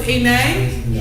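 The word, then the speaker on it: עֵינֵי: What's enei? Rhymes with b'nei.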